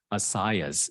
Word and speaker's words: ASIAS: And in aviation, there is this database called ASIAS. It's actually spelled like Asia with an S at the end, and is it's an